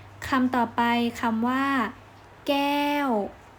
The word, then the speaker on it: แก้ว: ต่อ ไป คำ ว่า แก้ว กอ แอ ว ไม้ โทแก้ว อีก ครั้ง นะ คะ แก้ว